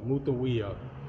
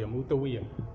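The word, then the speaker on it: Mutemwiya: We can see the cartouche, Mut M Wea, Mutawea, right? Mut T to feminize it, and then the owl M, and then Wea, Mutawea.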